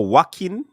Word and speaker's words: Joaquin: Big up to Marlon, Oh, Joaquin. Oh, the J is silent. Okay. That sounds like a Spanish name.